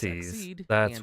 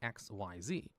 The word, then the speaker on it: Xyz: Just so you know, these are pronounced seed, not XYZ, because that's just how they said it in the anime and that's how they wanted it to sound.